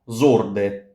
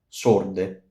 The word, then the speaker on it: sorde: S gives s, not zorde. Sorde.